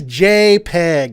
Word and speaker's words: JPEG: It is JPEG, okay? Yeah, with the J sound.